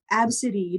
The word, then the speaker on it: Abcde: Like that woman who named her daughter Absidy, but it's spelled ABCDE.